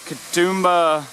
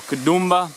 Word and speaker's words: Katoomba: waterfall now this is the uh katoomba or kudumba however you want to pronounce that falls just on the